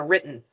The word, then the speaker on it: written: written written or the native speaker's pronunciation written you hear the little in there written written good all All right.